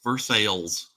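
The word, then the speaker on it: Versailles: Kentucky it is pronounced versales it is pronounced like it is spelled veres it's funny you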